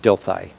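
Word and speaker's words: Dilthey: uh revisioning psychology is a uh dilai that's spelled D i l t h y uh D um because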